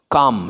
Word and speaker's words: calm: काम, CALM, कालम नहीं है, ये काम है.